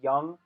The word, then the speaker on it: Jung: The Jung test, Jung, Jung, it's pronounced Jung.